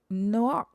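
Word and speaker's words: נח: So his name in Hebrew is pronounced Noach.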